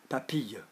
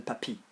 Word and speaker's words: papille: Papille. So that gives me papille rather than papi. Because papi is like an old grandpa.